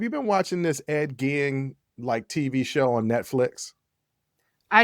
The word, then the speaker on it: Gein: It's Gein, because I've heard it several times.